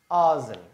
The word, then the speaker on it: arson: ஆசன் ARSON நாங்கள் இதை pronounce பண்ணுவோம் ஆசன்.